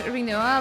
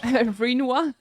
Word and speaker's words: Rinoa: I also pronounce Rinoa like it rhymes with quinoa, even though I know it's wrong. Rinoa.